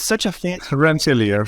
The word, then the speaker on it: Rensselaer: another MS in a school, I can't even pronounce it, Rohit. It's such a fancy... Rensselaer. Rensselaer.